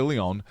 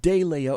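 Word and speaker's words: de León: Leon right Leon yeah Leon not not de Leo he he pronounces it de Leon it's Leon yeah it's Kevin Kevin Leon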